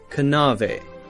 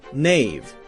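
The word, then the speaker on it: knave: in english were pronounced a word like nave k-n-a-v-e would have been pronounced something like kanave kanave now we have a silent k so we don't say kanu we say no knowledge nave knives we say just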